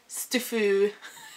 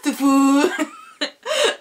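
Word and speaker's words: STFU: Like, stufu. That's how I pronounce it, you know, when people say shut the fuck up. I don't say shut the fuck up, I just pronounce it stufu. Ah, stufu.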